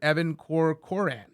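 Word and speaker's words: Evan Corcoran: notes made by one of the lawyers Mr Evan Coran that's how you say his name Mr corcoran's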